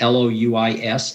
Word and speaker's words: Louis: um people like art louie who also teaches at cambridge a physicist that's l-o-u-i-s a-r-d is his first name l-o-u-i-s but it's pronounced louis people like aleister mcgrath